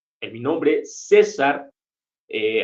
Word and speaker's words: César: mi nombre César eh Aunque tengo una c eh ahí al inicio no no la pronuncio Digamos como c sino la pronuncio como en la s o sea yo mi nombre lo podría escribir lo podría representar Con la s inicial la s en medio y es el mismo sonido por lo menos para